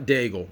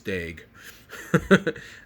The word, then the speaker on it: Daigle: out of alexander daig it's not daigle it's dag i hear i remember